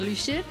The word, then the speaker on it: Lusher: Sí, és una U que has de posar la boca com una I. Es pronuncia Lusher, ah, exacte.